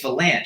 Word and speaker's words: Vilanch: not cess it's chess you have to pronounce a CH so Bruce fanch we'll